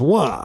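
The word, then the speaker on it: は: It marks the sentence topic and is pronounced wa.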